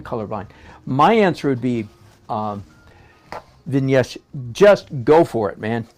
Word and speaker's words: Vignesh: And Vignesh Padm, okay, hang on. I'm assuming the G is silent, right? It's not Vignesh, it's Vinesh, I'm assuming.